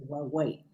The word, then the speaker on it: Huawei: Huawei, ¿cómo se pronuncia? Huawei.